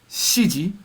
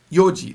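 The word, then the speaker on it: よじ: and you'll be corrected it's never Shi and it's never Yi it's always Yoji the UN is always missing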